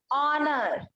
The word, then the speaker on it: honor: H silent कहाँ पर होता है? एच, एच कहाँ पर होगा साइलेंट? ऑनर, क्या होगा? ऑनर। Honor.